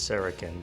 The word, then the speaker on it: Szarekhan: from the Egyptians and words beginning with SZ in ancient Egyptian are pronounced as sh however with that in